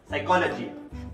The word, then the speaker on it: psychology: For example, psychology, the P is silent.